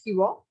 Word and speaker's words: Shiva: assamese we call it so that shiva is pronounced as hiwa and these are the